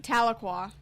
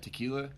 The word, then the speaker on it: Tahlequah: Tahlequah. Tahlequah. Okay. But Texans have been calling that tequila.